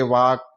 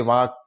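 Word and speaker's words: walk: के के से पहले एल है एल साइलेंट हो जाएगा डब्लू ए के ही हम उच्चारण करेंगे वाक इसका उच्चारण डब्लू ए के वाक ही निकालेंगे एल को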